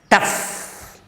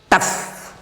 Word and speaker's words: tough: Then the pa sound at the end of the word, tough. See here, the fifth consonant, vowel, a, is in between ta and fa, tough.